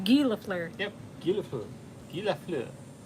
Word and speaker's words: Guy Lafleur: the hockey player's not Guy Lafleur, it's Right. Guy Lafleur.